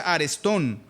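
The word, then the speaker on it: ἀρεστόν: El término griego es una palabra que se pronuncia arestón.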